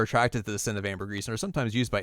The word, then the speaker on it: ambergris: Ambergris.